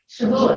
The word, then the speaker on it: Shavuot: And it came 50 days after the end of Passover with the Jewish celebration of, Debbie, tell me how do I pronounce it? Shavuot? Shavuot. Shavuot, there you go.